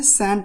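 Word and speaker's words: shan't: Cell not का क्या होता है, सैंट होता है, सैंट। शांति मत कहिएगा और साइलेंट भी मत कहिएगा क्योंकि ये भी गलत होता है, इसको अवॉइड कीजिएगा।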